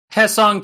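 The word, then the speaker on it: Hyeseong: I I did confirm the Dodgers Hesson Kim despite it being Hy S E O N G is still also pronounced he.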